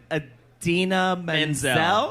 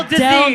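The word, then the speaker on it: Idina Menzel: I always get the name wrong, but Adina Menzel. Yeah, yeah. Did I say it right? Adele Adele Dazeem, Dazeem.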